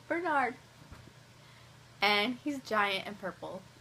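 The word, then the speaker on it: Bearnard: I love him and his name is spelled b e a r n a r d like Bernard only his Bernard and he's Giant and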